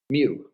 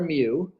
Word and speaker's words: mu: it's actually the Greek letter me which is pronounced like that me it's lower case Greek letter mu and what that is that's going to be